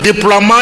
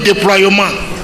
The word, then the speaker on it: déploiement: Il y en a qui pensent que quand on dit par exemple déploiement, il faut dire déploiement. Quand on dit remerciement, on dit remerciement. Même les grandes personnes, c'est malheureux. Parce qu'il y a le E, il veut prononcer le E. On peut prononcer le E, des remerciements, déploiement, éternuement, et ainsi de suite. Le E est avalé, Donc il y a